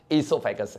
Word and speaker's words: oesophagus: एंड the answer is ईसोफेगस है। ओ silent है, पक्का ना, यहां कोई भी डाइजेशन नहीं होता, माउथ में हुआ था, सलीवरी एमाइलेज ने कॉम्प्लेक्स को सिंपल बनाया था।